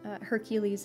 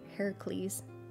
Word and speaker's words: Heracles: of the other uh hercules as well heracles depending on how you want to pronounce it some people say it's hercules some people say it's heracles there's all these really